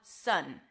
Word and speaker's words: sun: Then we have sun. It's an S sound, a cup, it's like a stressed schwa, and an N sound.